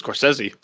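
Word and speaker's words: Scorsese: cynophile he is because he says coresi coresi he's doing the correct way all right all right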